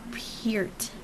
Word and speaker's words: Peart: John Peart. Did I say it right? Yes, Lauren. John Peart.